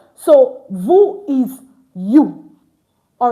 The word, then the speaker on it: vous: So, vu is you. All right. The S is not pronounced at the end.